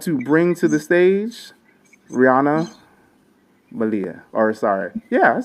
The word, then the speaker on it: Riana Malia: With that, I want to bring to the stage Rihanna Malia.